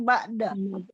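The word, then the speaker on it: بعد: mim ba'at apa mim ba'da. Oke, jadi begini. Mim ba'du umpama waktu waqaf tetap qalqalah. Mim ba'd. Tetap qalqalah. Tetap. Jadi salah kalau mim ba'at gitu ya. Oh, salah. Itu salah cara baca itu.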